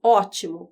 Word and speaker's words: ótimo: Quando a gente olha aqui, ótimo, qual é a sílaba mais forte de ótimo? É O.